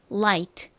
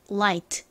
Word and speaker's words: light: 먼저 빛 가벼운은 영어로 혀를 앞니 뒤에 붙였다가 떼면서 light light 이렇게 발음하고 방금 전에 배운요